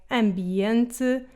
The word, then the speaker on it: ambiente: However, the M can sound nasalized and different in words like ambiente and Pay attention to my lips when I say these words. Ambiente and This happens when the M is between a vowel and a consonant or at the end of words.